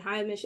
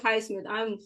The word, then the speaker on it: Highsmith: I think I start the season with Haywood Heimish at the 4. Haywood Highsmith. I said his name wrong because Tiffany, my friend, and I from Heat Beat, she calls him Hamish.